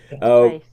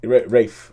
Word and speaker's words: Ralph: And it stars Ralph Fiennes, which I believe is how you pronounce his name nowadays. Rafe, yeah. Rafe.